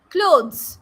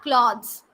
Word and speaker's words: clothes: Then it is clothes, not cloths. Clothes.